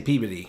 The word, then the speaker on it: Peabody: It's not Peabody, it's Peabody. Anywhere else in the world they'd say Peabody, but we say Peodyy.